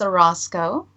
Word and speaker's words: Orozco: My last name is Orozco. Orozco.